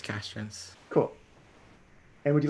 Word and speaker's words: Castrence: And is your last name pronounced like Castrens, Larry? Yeah, it's Castrens.